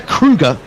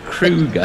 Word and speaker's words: Kruger: Dexter Kruger. Kruger, yeah, Kruger, like the national park in South Africa.